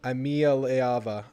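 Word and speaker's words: Iamaleava: Imialiava. Imialiava. 6 syllables.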